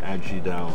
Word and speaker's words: Ajidahun: g and down down so you don't pronounce the h actually you're actually down so adds you down you see that's great